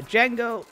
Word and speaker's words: Django: Django. There's no D. D is silent.